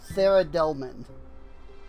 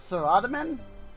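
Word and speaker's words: Saradomin: Um, there's a statue of Sarah Dilman, which apparent which according to like all of the videos I've watched, like that's how you say it is Sarah Delman. I always thought it was Sarataman, but that's what everybody says, Sarah Delman. So, I'm going to assume that they are right.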